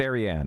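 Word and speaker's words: Ariane: Oh, it's Arianne.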